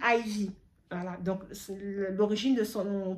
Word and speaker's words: Ivy: Voilà, donc qui s'écrit en chiffre romain 1 IV et qui se lit Ivy.